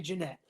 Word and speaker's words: Jeanette: Okay, I wanted to say Janet the first time, but I did say Jeanette. I pronounced it right.